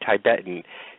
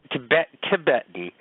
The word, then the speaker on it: Tibetan: is the way that you said Tibetan, and it's Tibetan, not Tibetan.